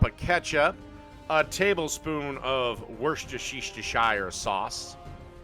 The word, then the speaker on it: Worcestershire: Followed by a 1/4 cup of ketchup, a tablespoon of Worcestershire sauce. Actually, I think it's pronounced Worcester sauce.